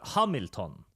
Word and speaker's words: Hamilton: Although in this case, it's pronounced Hamilton, because it's a Swedish action hero, of all things.